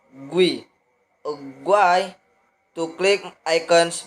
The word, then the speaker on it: GUI: Modern operating systems use a graphical user interface or GUI, pronounced GUI.